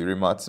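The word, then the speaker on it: Rimac: tban is and then mate remac or actually remat mate remat the CEO of the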